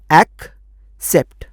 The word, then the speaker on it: accept: और एक ACCEPT, पहला सी क और दूसरा सी ई के पहले आने के चलते बन गया स, एक्सेप्ट।